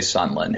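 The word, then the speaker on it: Sondland: I'm gonna call them it's spelled Sandlin but people say Sunland who knows maybe it's a Muller Muller type situation but but someone had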